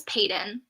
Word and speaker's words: Peyton: You pronounce her name as Peyton. Or at least that's how, when I was listening to the audiobook of it, that's how they pronounced it, is Peyton.